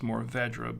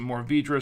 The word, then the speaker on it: Mourvèdre: Actually, it's pronounced Mourvèdre, but, some people pronounce it Mourvèdre, some people pronounce it Mourvèdre, but it's actually supposed to be Mourvèdre, I believe.